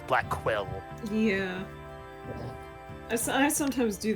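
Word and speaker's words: Blackquill: God a cello prosecutor Blackwell Blackwell as been pronouncing it black well when it's black quill yeah I I sometimes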